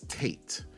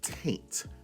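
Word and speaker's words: Taynt: for the longest time I thought Penelope's last name was Tate t a t right actually that is not her name the character's name is Penelope taint which is spelled t a y n t you're probably wondering what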